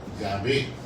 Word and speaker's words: Yahvé: Usted sabe que el nombre de Dios el judío no lo pronuncia. El nombre correcto es Yahvé.